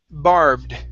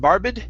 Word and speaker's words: barbed: uh last one here Ed ending Barbed instead of Barbed it's Barbed barbed wire Barbed barbed